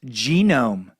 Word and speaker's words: genome: Genome is pronounced genome, Dan.